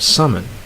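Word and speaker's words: salmon: don't like the nut and then you have summon right to fish alright now the next group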